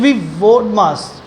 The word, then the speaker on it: BODMAS: thing ी it will be ोड मास ी इ साइलेंट देर ी इ साइलेंट ी यहां पर साइलेंट रहता है हमेशा इसको बोलेंगे हमेशा बोड मास बोलते हैं ठीक है बोड मास